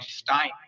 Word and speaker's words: Stein: Stein.